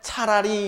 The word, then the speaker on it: 찰하리: 그러니까 찰하리는 발음 그대로 하면 차라리 이렇게 되겠어요. 차라리.